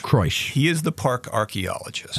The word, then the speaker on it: Kroesch: and Devil's Den by Eric, how do you pronounce that, Kroesch? Eric Kroesch. Kroesch.